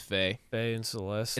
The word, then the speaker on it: Fe: For Fee? Faye and Celeste. Faye. Oh, it's Faye. That's right. It is pronounced Faye.